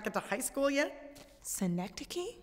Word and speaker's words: synecdoche: My name is a cynic douche for rudeness. Poor me. A what? Cynic douche. What, you not get to high school yet? Synecdoche? It's pronounced synecdoche.